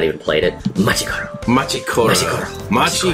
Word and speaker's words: Machi Koro: Machi Koro.